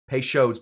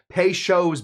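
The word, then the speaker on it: Peychaud's: Po's bitters. I said it wrong. Pes shows bters.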